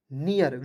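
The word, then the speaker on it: near: लिख दीजिएगा ई ए आर है तो इसका उच्चारण यर के रूप में करेंगे तो हो जाएगा नियर यर नहीं पढ़िए य देखि बी रहता है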